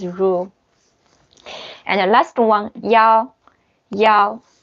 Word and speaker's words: 一: And the last one, yao. Yao. When it's the one, it pronounced yao. It's the numbers, like 110.